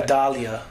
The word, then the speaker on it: Vidalia: It's called Vidalia Park. I don't know if there's an English pronunciation to that. Vidalia. You gotta just say it like that. Vidalia basically, Park.